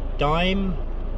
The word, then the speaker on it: Daimh: on ben crooken and stop dime well that's spelled with a h on the end not like the way you spell the chocolate bar dime that's one of the